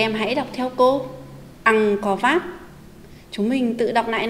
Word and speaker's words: Ăng-co-vát: Khi đọc từ này, chúng mình chú ý phát âm đúng tiếng. Vát có phần át. Các em hãy đọc theo cô. Ăn có vát.